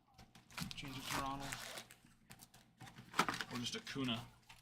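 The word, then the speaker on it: Acuña: Who is this wrong with a kuna? People who still say auna. Now, in their defense, I don't think they actually put the Oh, they do put the nay.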